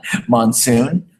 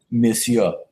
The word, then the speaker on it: monsieur: Monsoon. What is the pronunciation? Monsieur.